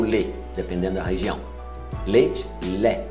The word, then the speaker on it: lait: Lé. Não pronuncia o T.